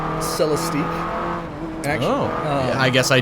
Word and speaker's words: Celestiq: One of the cars that John mentioned to bring up is, and it looks like it's pronounced Celestique.